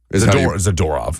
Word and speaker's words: Zadorov: Zadorov. That's how you pronounce it.